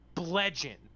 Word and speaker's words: bludgeon: Bludgeon. Now you're saying it with a... Nick! That's how you pronounce it! Blood! Bludgeon! No! Blood-gen. It's spelled B-L-U-D-G-E-O-N, but you pronounce it bludgeon.